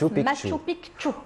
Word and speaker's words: Machu Picchu: Machu, alors vous insistez, ça se prononce Machu Picchu. Quand vous cherchez Picchu, il y a 2 C.